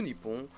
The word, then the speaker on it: Nippon: Il fut à partir donc, de l'époque de Nara, donc le 8e siècle, prononcé Nihon ou Nippon, donc que l'on utilise encore donc, de nos jours au Japon.